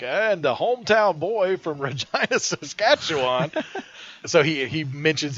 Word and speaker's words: Regina: hometown of Regina saskatchwan Regina Regina yes rhymes with the best thing ever he actually makes that